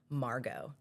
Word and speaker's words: Margaux: She Margaux. was like, how do The we? X is silent.